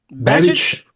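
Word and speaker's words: Babich: I need you to help me pronounce the last name of your defense coordinator. Bobby Babbage.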